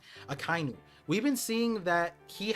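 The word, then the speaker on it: Akainu: uh uh no kiji Akai new sorry I've been saying it wrong akinu we've been seeing that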